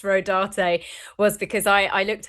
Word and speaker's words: Rodarte: The only reason why I know it's pronounced Rodarte was because I I looked up the designers.